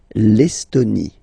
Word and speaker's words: L'Estonie: L'Estonie. Final E, not pronounced. L'Estonie.